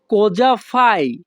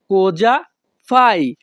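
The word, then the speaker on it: cosa fai: বাক্যের ইতালিয়ান ভাষা হবে কোজা ফাই কোজা ফাই এখানে সি ও কো এস এ সা এর উচ্চারণ হবে ইতালিয়ান ভাষায় যা কোজা ফাই ইতালিয়ান ভাষা কোজাফাই বাংলা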